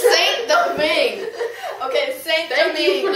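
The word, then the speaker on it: Saint-Domingue: It's Saint Domingue. Okay, Saint Thank you, Domingue.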